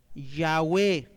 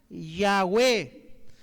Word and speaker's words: Yahweh: Ese Yod Wau ¿qué pronuncia? Yahweh. ¿Está bien? Yod Wau pronuncia Yahweh.